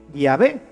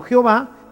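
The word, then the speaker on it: Yahvé: llave y por eso nosotros sabemos que la pronunciación correcta de llave es así y ave y no jehová que simplemente una una litera ción se fue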